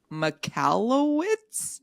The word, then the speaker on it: Michalowicz: The third book is Profit First, and I don't know how to pronounce his last name, but I love this book. Profit First by Mike Michalowicz. You nailed it, I'm sure.